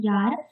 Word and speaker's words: Jahr: For example, in German, for year, we have the German word Jahr, in which J is pronounced as Ya.